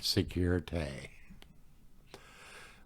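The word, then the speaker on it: sécurité: May Day safety or security pronounced like the French word security which is the correct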